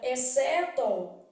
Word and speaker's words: exceto: isso que é oscilante na palavra exceto o x não é pronunciado então na palavra exeto X C estão formando